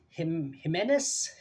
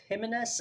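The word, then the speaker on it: Jiménez: Uh, I'm not sure if I think it's Jimenez. Jimenez. I don't know. It's Jim. I know that a lot of times the J is pronounced as an H.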